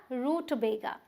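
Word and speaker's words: rutabaga: ना आपको मार्क तो यहां पर हम स्ट्रेस देंगे तो हम बोलेंगे रूट्स देगा क्या रूट बेगा तो अब ध्यान देते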